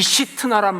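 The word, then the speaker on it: שִׂטְנָה: 여러분, 신나라고 하는 이 이름은요 히브리식으로 발음하면 시트나입니다. 시트나. 근데 이 시트나란 말이 어디서 온 줄 아세요?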